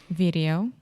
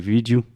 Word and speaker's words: video: This is another word that I just hear Brazilians almost just use Portuguese pronunciation and say vídeo. But in English, we say video. Video. So first we have a hard D sound, vid, and then we really exaggerate the O at the end.